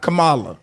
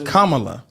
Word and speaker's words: Kamala: we pronounce her name think of Kama Kama love La Kamala Kamala so it's not Kamala it's Kamala Kama love all right now I'm